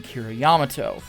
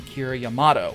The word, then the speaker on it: Kira Yamato: back in the day always called him kiriyamato the most recent calls him kira yamato which is probably the correct pronunciation so excuse me if